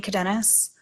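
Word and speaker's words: Cadenas: Jane hello your honor my name is cadenis all right can you spell that last name c-a-d-e-n-a-s okay go ahead also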